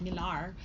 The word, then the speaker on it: Millar: Miller and oh yeah said Miller you can pronounce it Miller its Millar anyway and the cover